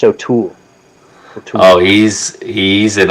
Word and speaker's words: O'Toole: look at this old tool they're trying to heckle god he sucks it's just it's pronounced o'toole oh he's he's an